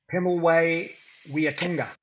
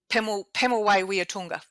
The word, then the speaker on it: Pemulwuy Weeatunga: Is that how you pronounce it? Pemulwuy Weeatunga. Pemulwuy Weeatunga.